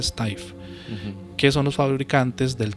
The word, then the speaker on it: Steiff: de la fábrica Steiff, creo que se pronuncia Steiff, que son los fabricantes del Teddy Bear.